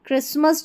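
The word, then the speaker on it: Christmas: देखिए यहां पर यह फ़सन और हसन में तो यहां पर भी हमारा टी जो साइलेंट है और क्रिसमस जो है ना इसमें भी टी साइलेंट है।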